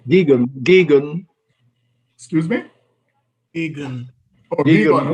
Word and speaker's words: Geoghegan: Geoghegan.